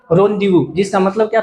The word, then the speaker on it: rendezvous: रोंदेवू, इसकी स्पेलिंग तो आपको हर हाल में याद करनी है, इसकी स्पेलिंग हर हाल में RENDEZVOUS, रोंदेवू।